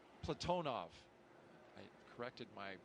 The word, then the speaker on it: Platonov: Our crew today, commander Zena Cardman, pilot Michael Frink, Jackson astronaut Kimmy Aayoui, and Ross Cosmos cosminaut Alleg Platinoff Platonov. I corrected my pronunciation yesterday and I slipped back into crew walk out has commenced on schedule.